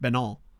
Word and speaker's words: Benin: I only discovered yesterday that it's not pronounced Benin, it's pronounced Benin, which I guess makes sense given the French speaking and all that.